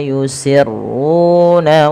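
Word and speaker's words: يسرون: Annallaha ya'lamu ma yusirruna wa ma yu'linun. Kemudian lafal ma yusirruna, ma di sini dipanjangkan 2 harakat, yusirruna, ru-nya tebalkan, yusirruna. Dan pada lafal ru juga kita panjangkan 2 harakat karena dia mad tabi'i.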